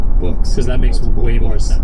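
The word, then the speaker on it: Boox: We just thought it was Books until someone was like, "It's definitely pronounced Books."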